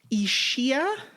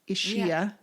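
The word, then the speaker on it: Ischia: what island what island it's ishia okay i-s-c-h-i-a ishiya or ishia issue yeah no i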